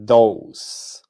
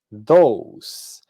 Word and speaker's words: those: Entonces decimos this y these, that y those. Observen que en los dos plurales la e al final no suena. These, those.